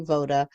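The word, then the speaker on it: Woda: So first of all, it's spelled with a W, but it's got the German pronunciation, so it's going to be Voda. And there's another village or country nearby that also has that same pronunciation. So anytime you see a W in this map, it's going to be pronounced as a V in these areas.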